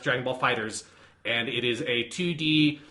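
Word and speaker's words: Dragon Ball FighterZ: proper way to say it looks like Dragon Ball fighter Z but is supposed to be pronounced Dragon Ball Fighters and it is a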